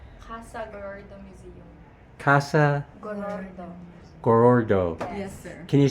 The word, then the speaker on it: Gorordo: this question how do you how do you pronounce the museum name Museum Kasa Goro gorordo yes sir can you say it three times